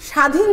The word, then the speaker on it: স্বাধীন: স্বাধীন, স্বাধীন যখন বলি তখন দন্তস্বটাকে আমরা ছয়ের মতো বা হালকাভাবে উচ্চারণ না করে অনেক জোর দিয়ে উচ্চারণ করি, স্বাধীন।